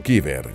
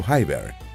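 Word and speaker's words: Khyber: la ruta conocida como paso kiber se pronuncia paso hyber está en las montañas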